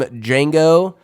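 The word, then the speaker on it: Django: villain Calvin candy from D Jango the D is silent uh straight straight up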